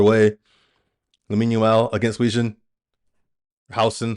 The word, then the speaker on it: Huijsen: Housen. Sorry, I say Huijsen. Housen. I say I pronounce it the American way.